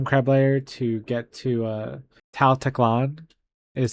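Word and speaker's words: Tal Teklan: We are going to go to the Gem Crab lair to get to Tal Teclan is how you pronounce this city that I'm going to.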